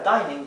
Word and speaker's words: dining: tenemos una sola n una sola n después de la i y luego tenemos otra vocal más entonces esta i adquiere